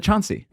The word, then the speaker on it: Choudry: Yeah, but it's just like Cha. The D is the hard one because it's not a D. It's not. I mean, Choudry.